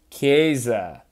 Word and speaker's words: Chiesa: Chiesa. Third try's a charm. All right, third try. Edited this a few times. I got his name this time. Federico Chiesa, numbered 5 of 10.